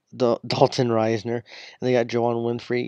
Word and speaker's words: Risner: I call him Dalton Risen. I think Risen sounds better, but Dalton Risner.